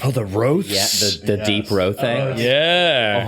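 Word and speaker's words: rothé: A hold over from the Is it a ro? Is that how you say it? Yeah, that's how they say it in Boulders's Gate at least.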